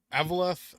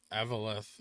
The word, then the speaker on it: Eveleth: It's pronounced Eveleth and Wizada. Pronounced Eveleth and Wizet.